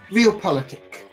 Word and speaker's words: realpolitik: So how is it pronounced again? Realpolitik.